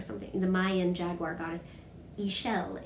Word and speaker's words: Ixchel: Ixchel is how they're saying it. So yeah, it isn't spelled like that at all. You wouldn't know that from looking at it, but Ixchel, I can't wait to make it.